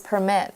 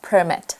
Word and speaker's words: permit: So if it's a verb, it's pronounced as permit. And if it's a noun, it's pronounced as permit.